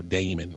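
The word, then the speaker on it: Daemon: And the first part's called Demon, but it's spelled like the Unix variety of a demon, or Damon. Damon, yeah. But everybody Okay. says Demon.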